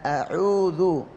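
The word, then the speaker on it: أَعُوذُ: Zal jelas lidah keluar ya, ujung lidah bertemu dengan ujung gigi seri atas. Zu, jadi kalau benar makhrajnya lidahnya dikeluarkan, insya Allah nggak berbunyi zu, a'udzu, apalagi a'udzubillah ya misalnya ya, lidah keluar zu ya, a'udzu akan berbunyi zu betul ya.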